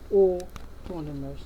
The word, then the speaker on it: autonomous: Okay, number 17 is pronounced autonomous. Say autonomous, autonomous. AU is pronounced O, autonomous.